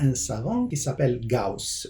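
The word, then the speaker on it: Gauss: un savant qui s'appelle GAUS en allemand gos en français le auu ça se prononce ao en allemand Audi non pas Audi alors GAUS qu'est-ce qu'il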